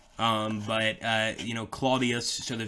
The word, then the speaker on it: Claudius: i Vu s but the way you would pronounce his name is Claudius not clais um that would actually be visigothic almost um